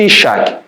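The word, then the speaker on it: יצחק: Isaac, que o nome pronuncia-se Ishak, significa ele ri.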